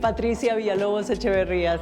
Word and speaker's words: Patricia Villalobos Echeverría: Pronounce it for me please. - (laughs) Patricia Villalobos Echeverria.